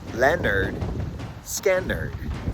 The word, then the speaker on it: Lynyrd Skynyrd: This week I spun the wheel and I got Leonard Skinnard's debut album from 1973 pronounced Leonard Skannard.